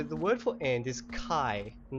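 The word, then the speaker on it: kaj: j sound uh sorry the J in espiro is a y sound so it's k a j k a j i probably really bad I will put it down the bottom just so you guys know I'm just going to grab this Burning thing so K AJ Kai so how would you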